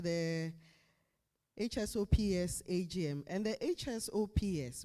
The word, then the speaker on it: HSOPS: And the HSOPS, we pronounce it as HSOPS.